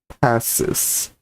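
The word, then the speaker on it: pacis: Or I think you're saying that the C is pronounced like an S. Pass this. Like a snake. Passis.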